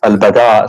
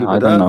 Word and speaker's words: البداء: You mean al-bada or al-bala? What? Sorry. I'm trying to understand what you are saying. Al-bala or al-bada? Well, bada. Al-bada. With dal, yes.